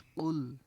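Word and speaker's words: قُلْ: এখানে উচ্চারণ হবে কফ লাম পেশ কুল।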